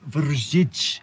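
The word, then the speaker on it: Vršič: Okay, so we've made it to the top of Vrsic, the highest mountain pass here in Slovenia.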